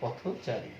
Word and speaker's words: পথচারী: পথচারী, এই যে পথচারী, এই পথচারীর উচ্চারণে আমরা দেখছি এই যে থ এর সাথে যে পথ, যে হসন্ত হস চিহ্ন যুক্ত উচ্চারণটা হয়, পথচারীতে গিয়ে সেটি কি হয়? পথচারী। এইভাবে কিন্তু এটি ওকারে পরিণত হলো, এই অ ওকারে পরিণত হলো।